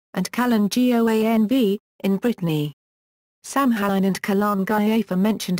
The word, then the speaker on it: Samhain: Samhain, pronounced S-A-H-W-I-N or S-O-W-I-N, was the first and